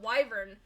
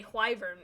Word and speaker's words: wyvern: not wyvern is because when you spell why it's whh y but you spell wyvern it's Wy so you you wouldn't pronounce the h sound like who there's no h sound and when you say hivern is almost putting an H sound into it and I was like